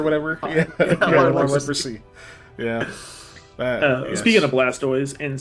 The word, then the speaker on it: Blastoise: reality it should be blastis blast like no that's n not right no it's from the toys part of tortoise so blast so I